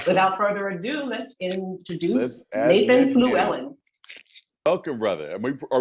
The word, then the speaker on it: Nathan Fluellen: everything so uh without further Ado let's introduce Nathan Fluellen welcome brother am we are we pronouncing that right yes you got it all